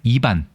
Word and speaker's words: 이반: 네, 이반, 리반이지만 두음 법칙에 의해서 이반이라고 얘기하죠.